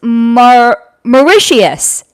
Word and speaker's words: Mauritius: It's pronounced Mauritius.